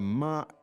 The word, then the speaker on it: 吗: So it's first tone, right? It's neutral tone.